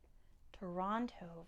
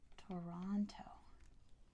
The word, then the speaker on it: Toronto: it's actually not Vancouver Toronto very good it is Toronto is Toronto to Ron to toe Ron like Ron Weasley to number 19 which